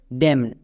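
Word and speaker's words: damn: যেমন এই ওয়ার্ড এই ওয়ার্ডের উচ্চারণটা হচ্ছে ড্যাম।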